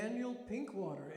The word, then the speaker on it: Daniel Pinkwater: Daniel Pinkwater. It's just the way it sounds.